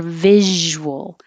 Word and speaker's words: visual: same thing for visual you can round your lips while you're making the visual and come back for the l or make it three syllables visual it gives you a little more time to round your lips and unround your lips visual visuals it looks like an s sounds like a z or visuals version this